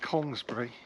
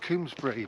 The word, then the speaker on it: Congresbury: I'm on the edge of the village of Congresbury, and I was taught, when I got to Bristol 20 years ago, to call it Congsbury.